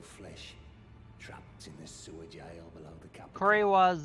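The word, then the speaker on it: Gaol: then let's see sewer jailed that's how it's pronounced I've always been pronouncing it Gail yeah it is jail unlocks the sewer jail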